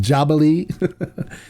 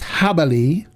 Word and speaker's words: Jabali: on this I love hubbelly it's funny my first video that I did I did not knowing how to pronounce this mezcali called it jabaly but it is pronounced habali on the news I